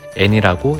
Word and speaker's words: 엔: 기호로는 이렇게 표시하고 N이라고 읽어줍니다.